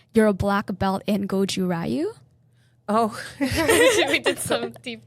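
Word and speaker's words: Goju-ryu: this wrong, but you're a black belt in Goju Rayu. Oh, we did some deep digging for that. Yeah. Gojiruj Gojiru.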